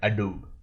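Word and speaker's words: j'adoube: apostrophe a d o u b e it pronounced that a dude or in english it is called as i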